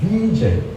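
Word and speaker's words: Wiesel: 루마니아 출신 유대인 작가인데요 루마니아 작가이기 때문에 저는 번역할 때 비젤 인터넷 보면 젤이라고 번역을 합니다이 젤이 영어식 바람이니 위 다보이니까 루마니아 독일 이쪽은 다 비라고 발음하는 거 본토 발음이 맞는 거 같습니다 이분은에 아오시 비츠에 갇혀서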